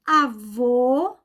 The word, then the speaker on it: avô: vogais orais por exemplo avô o fechado observem sempre a abertura da boca o a nesse caso é masculino e ele tem um assento circunflexo então pronúncia vai ser sempre o sempre fechada não importa a região do paí em que você esteja morando ou indo visitar ó aberto vogal aberta